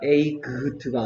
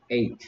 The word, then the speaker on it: eight: 에이그트가 아니고 에잇. 됐습니까? 하지만 선생님 쓸 때는 이거 선생님 이거 8이란 뜻인데 학교 다닐 때 이거 스펠링 외우는 거 알지 뭔지? 철자 쓰는 거 연습하는 거할 때는 GH 안 빠트리려고 쓸 때는 에이그트라고 해서 쓰고 읽을 때는 에잇이라고 읽었어.